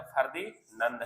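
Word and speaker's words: Ferdinand: इसको फर्दीना ने बोला। अगर आपसे क्वेश्चन पूछेगा टीआरई में किंग ऑफ़ नब कौन है? तो फरदीनंद है। ध्यान रखना। फरदीना भी इसको बोला जाता है। यू can pronounce king of नब।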